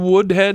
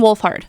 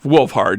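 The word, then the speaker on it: Wolfhard: yeah I know uh Finn Woodhead is that how you pronounce his name Finn wolfard wolfard yeah I know that he's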